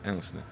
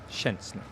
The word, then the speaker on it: Szczęsny: So it's sh. Okay. And then it's Szczęsny. Szczęsny. No, you have to get the sh part first.